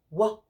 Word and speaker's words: what: What is spelled, and it doesn't sound how it should, but it's spelled WH-A-T.